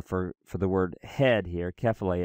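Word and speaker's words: κεφαλή: We don't want to, but we do want to try to place emphasis on the accented syllable. Kephale, kephale, and the circumflex here, which can be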